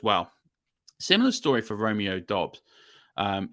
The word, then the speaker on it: Dobbs: want to pronounce him I say Dobbs some people say dubes um we'll get this